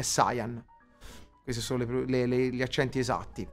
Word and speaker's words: Saiyan: Grazie Tia, grazie Nico, come Shenron o Shenlong e Saiyan invece di Saiyan, di Saiyan, sì, è Saiyan.